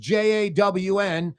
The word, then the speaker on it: John: So Uncle John pronounced Jawn, spelled John.